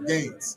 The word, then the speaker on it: Guynes: How do you pronounce that? Gaines. Freddie Gaines.